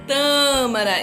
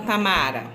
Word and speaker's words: tâmara: Por que eu sei que é tâmara e não tamara? Porque tem um acento.